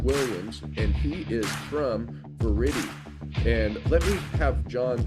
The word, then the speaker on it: Viridi: it right on it ver is a a Latin word and you might be one of the only people I spoken to have pronounced it properly so thank you that's because